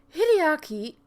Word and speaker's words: Hideaki: glasses but I did one today very weird hide Archy yes I got it right I was that